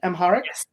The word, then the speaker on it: Amharic: with this book which comes from the uh Amaharic language. Am I pronouncing that correctly? Amharic Amaharic text which is darkness is a gracious guest.